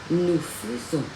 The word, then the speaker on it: nous faisons: Vẫn viết là FAISONS nhưng mà đọc là nous faisons.